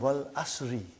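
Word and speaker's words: والعصر: It's called Wal Asri. It's majroor. But you always say Wal Asr. But look, go home and look. You will find kasra there. Wal Asri.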